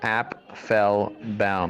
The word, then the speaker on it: Apfelbaum: actually listen to this my name is Appel Bal that's how you pronounce my name okay so you can